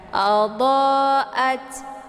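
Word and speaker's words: أَضَاءَتْ: Kemudian at di sini ada tak sukun ya. Tak sukun ini dibaca hamas, ada desis anginnya. Jadi jangan dipantulkan ya. Adha'at, adha'at ya.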